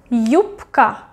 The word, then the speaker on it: юбка: Юбка, юбка, юбка. К is voiceless. You can check к, к, к, voiceless. That's why it will be юбка.